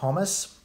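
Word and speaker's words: хомус: like over in Russia they call him humus KH o mus he said that and they pronounce it humus um another question what's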